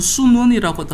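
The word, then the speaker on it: 孫文: 있습니다 지도자는 문이라고 하고 지도자는 손문이라고도 하고 중국 발음으로는 순원이라고도 합니다 신년이 일어났다고 해가지고이 사람이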